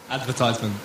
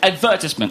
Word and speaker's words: advertisement: We see this word and we think it's pronounced advertisement. That's incorrect. The correct British way is, in fact, advertisement.